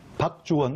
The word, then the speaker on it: 박주원: 박주원, 박주원. 그렇죠. 발음 잘하셔야 됩니다. 박주원입니다.